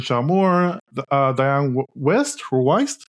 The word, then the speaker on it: Wiest: John Lithgow as Reverend Shaw Moore, Dianne Wiest or Weist? Wiest. Wiest, thank you. I mispronounce all names except Chinese ones.